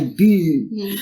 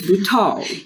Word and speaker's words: Butau: little dots on it, and that's why you had to say Boo. But it's Butau.